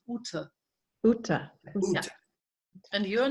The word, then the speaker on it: Ute: My name, you say the German way people call me is Ute.